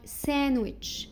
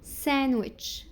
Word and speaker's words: sandwich: Some common words we don't pronounce letter D. يعني دي بعض الكلمات الشائعة ما ننطقش فيها حرف الـ D لكن للأسف الأغلبية بينطقوه. Like sandwich. Sandwich.